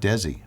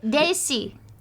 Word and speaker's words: Desi: and by the way his name is not Desi what is it Desi Desi yeah it's like Daisy Daisy Arnez yes everybody universally